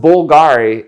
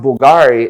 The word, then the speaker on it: Bvlgari: They carry jewelry, cosmetic, fragrances, fashion accessories, but it's pronounced Bulgari even though it's spelled with a V.